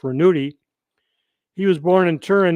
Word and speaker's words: Ranucci: attention reynado rasquel staged named for renato ranucci pronounced ranuti he was born in turin italy on april 27 1912.